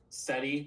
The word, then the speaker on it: SETI: SETI looks really cool.